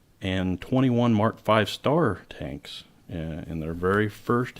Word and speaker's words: Mark V*: Roman numeral 5, and that asterisk in early British tank designations was usually pronounced as a star when spoken.